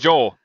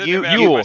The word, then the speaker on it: Yule: Everyone says Joel. Yes. Yeah. How do you say it? Yule, like Yuletide.